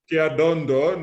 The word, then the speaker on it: Kiadondo: over 10 years, but you are mispronouncing her last name. So it's Dr. Betty Kiadondo, not what I said before.